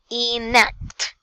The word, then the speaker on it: enactment: Next, enactment. Enactment. No. Connect the sounds. You have to connect N and A. Enact. Enact.